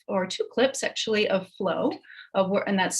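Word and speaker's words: Floe: My plan for today is to show you a clip of, or two clips actually, of Flow, and that's spelled F-L-O-E.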